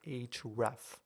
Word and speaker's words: href: vs code automatically pre-populated this particular attribute called href that's how you say it now basically what